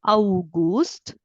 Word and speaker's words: August: August. Au, we pronounce it as au. Okay, so you read it as August.